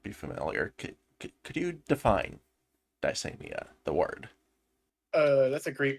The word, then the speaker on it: Dysania: Dysania, it's pronounced. Dysania. It's not really. Dysania. Yeah. Okay, thank you.